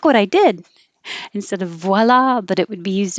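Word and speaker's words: voilà: that because it pushes the lips too far away so start rounding your lips immediately after making enough noise voila and then you have to open for the ah vowel voice voila and the stress is on the second syllable and i think it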